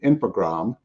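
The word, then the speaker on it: Infogrames: January of 2001 when infogram and you do you just dro the es on the ID on that French pronunciation um took over was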